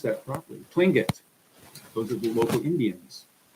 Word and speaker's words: Tlingit: I pronounced that properly. Tlingit.